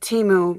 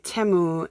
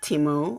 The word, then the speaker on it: Temu: I am coming to you guys with another Temu haul, and I'm going to start calling it Temu because apparently I've been calling it Temu and have basically been called out by many